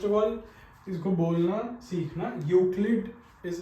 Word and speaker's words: Euclid: यूक्लिड is its pronunciation, कुछ और बच्चे कई कुछ और बोल देते, but please remember it's यूक्लिड।